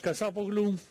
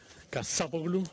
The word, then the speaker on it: Kassapoglou: My name is Kassapoglou. Accent on the second A, Kassapoglou.